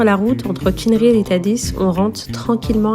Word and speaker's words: Dadès: Donc là, on se trouve au niveau des gorges de Tadès, en fonction de comment vous pouvez le prononcer, mais ici ça se prononce Tadis.